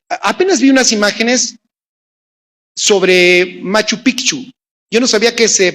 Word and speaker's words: Machu Picchu: cuántos han visto apenas vi unas imágenes sobre Machu Picchu yo no sabía que se pronuncia correctamente no es Machu Picchu allá con